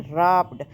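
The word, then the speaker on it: wrapped: अब देखें रप्ड रप्ड में डब्ल्यू साइलेंट आया है।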